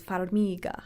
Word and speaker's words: Farmiga: say her name yeah farmiga i don't know i gotta look that up now oh farmiga she says farmiga like this all right so